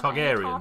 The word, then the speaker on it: Targaryen: and chips to have Targaryens. a tartar sauce. Yeah, there's no. Do you mean Targaryens? Targaryens? How are we? Oh gosh, are we all pronouncing? It's because it's Targaryen. Okay, It's the dragon Targaryen.